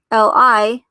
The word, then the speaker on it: Lee: is the name lee does the name lee have different variations in um in chinese so you have l e e l i and l i e all pronounced li but the last one